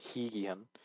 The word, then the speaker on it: 회귀한: So with this one, you actually can pronounce it like hui but it's generally pronounced higihan because anything with the ui and consonant is he, like dida and like higihan as we just saw.